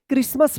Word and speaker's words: Christmas: क्रिसमस पढ़ेंगे। यहाँ पे जो है ना टी साइलेंट रहेगा, यहाँ पे रेड एस